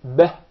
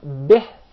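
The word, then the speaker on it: بِهِ: It's commonly mispronounced to be beh. If you notice, the kasrah is with a smile, beh. But when you mispronounce it, of course undeliberately, you did not mean it, unwanted mistake. So you say beh.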